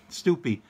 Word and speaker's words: Stoopy: Okay, and it rhymes with poopy. Okay, Stoopy, and how often do you run this?